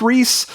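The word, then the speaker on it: Rhys: different Reese which I I'm pretty sure it's pronounced Reese in my family because we're huge Indiana Jones fans I've always heard rice Davies but I'm pretty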